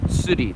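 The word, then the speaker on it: tsuri: city they said fishing in Japanese it's called suti TSU RI and they you can rent a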